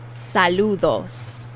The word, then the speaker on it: saludos: greetings saludos saludos saludos and that d is also the soft th sound kind of a d saludos okay the word for